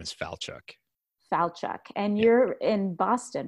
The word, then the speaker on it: Falchuk: despite the why and my first name it's pronounced just like and I so it's and my last name is FAL Chuck Falchuk and you're in Boston right I'm in the